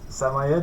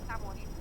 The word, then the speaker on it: Samoyed: Okay, what colour is the fluffy samoyed, is it? How do you say it? Samoyed.